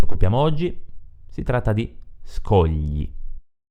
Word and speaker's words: scogli: Il suono gli, tipico dell'italiano, è formato dalla combinazione G, L, I.